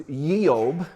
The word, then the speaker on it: Job: was job and actually his name was yeob because there is no j in hebrew these are like if